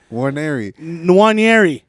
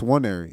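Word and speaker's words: Nwaneri: right I love it warer Neri no it's wer you don't pronounce the N you could though and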